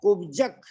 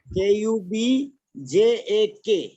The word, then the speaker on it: कुब्जक: Please Sonu बहन जी आपसे request है कि कुब्जक, यहाँ पर कुब्जक शब्द का उच्चारण करना है। कुब्जक, हाँ कुब्जक, बजक, कुब्जक, हाँ KUBJAK, कुब्जक, हाँ कुब्जक, इस प्रकार संस्था है।